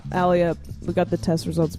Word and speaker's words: Alia: A liar. So when people Well, it's call pronounced you- Alia.